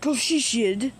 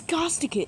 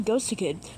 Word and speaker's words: Ghosticid: It's not Goshid, it's Gosticid. Actually, Ghosticid cuz the inspiration from the name was Ghost Orchid.